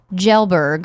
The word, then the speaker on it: Kjellberg: we did okay yeah PewDiePie pronounces his last name Kjellberg Kjellberg thank you I never